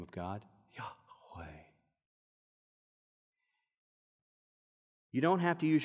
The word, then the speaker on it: Yahweh: You cannot properly speak it. It must be breathed. Yahweh, Yahweh. You know that name of God, Yahweh.